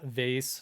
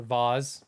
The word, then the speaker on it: vase: playing outside yeah yeah vase or vaz depending on how you choose to pronounce that grandma's irreplaceable china yeah